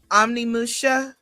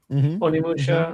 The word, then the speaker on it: Onimusha: Um, and then there was uh Omnimusha. Am I saying it right? Onimusha. Onimusha. Yeah.